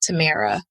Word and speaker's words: Tamera: I'm going to spell out Tamera. It's Tamera.. It is spelled and pronounced the same way as Tamera from Sister, y'all.